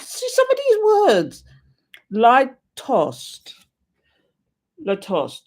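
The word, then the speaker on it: lítost: Litost. Latost. Latost, pronounced litost, is a Czech emotion describing shame or resentment and fury felt when another has made us feel wretched.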